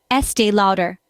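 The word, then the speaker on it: Estée Lauder: again louder now let's put it all together Estee louder pause for 20 seconds I hope you're practicing along remember pronunciation is all about patience and practice so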